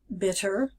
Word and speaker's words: bitter: And no instructions for bitter. And make sure that we do pronounce that as bitter, bitter, not bitter, bitter, and get rid of that American R, so bitter.